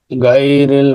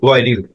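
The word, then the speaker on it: غيرِ: আন'আমতা আলাইহিম শেষ আয়াত গায়রিল মাগদুবি আলাইহিম ওয়ালাদ-দাল্লিন। শেষ শব্দটা বাসানো হয়েছে কিন্তু এটা হবে আপনার গয়রিল গয়রিল গটা আসবে গলার উপরে গলার ভিতরে গয়রিল মাগদুবি আলাইহিম ওয়ালাদ-দাল্লিন এরকম করে আমরা এটা উচ্চারণ করব।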